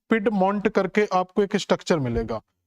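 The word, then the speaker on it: Piedmont: आपको मिलता है जिसका नाम आप देखोगे तो पिड मंट करके आपको एक स्ट्रक्चर मिलेगा तो अपलेसियन पर्वत के बिल्कुल दक्षिणी हिस्से पर जाओगे तो पेड मंट करके आपको एक स्ट्रक्चर मिले जाएगा पिड मंट भी बोल देते हैं इसको पिड मंट तो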